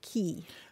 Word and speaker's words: quay: Yeah, it's an odd one, but Q-U-A-Y is usually pronounced key.